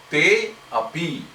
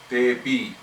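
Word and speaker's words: तेऽपि: Like te api becomes tepi. You drop the A, but the A is kind of implied. Tepi. You don't say te api, but you say tepi.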